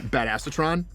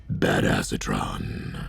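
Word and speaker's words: Badassatron: right now is um bad acetron which is actually pronounced badass sron um we're going to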